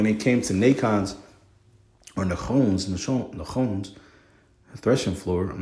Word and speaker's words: Nachon: And when they came, Nachon's threshing floor, when they came to Nachon's, or Nachon's threshing floor, I'm not too sure how that one is pronounced.